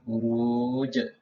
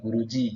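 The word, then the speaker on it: بروج: Ini sama jim juga sama buruj ya, buruj bukan buruji ya, karena di sini wakaf semuanya buruj.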